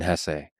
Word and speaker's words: Hesse: It was written by Hermann Hesse, and by the way, please allow me this pronunciation of his last name. I've heard some people say Hess, but my whole life I've always said Hesse.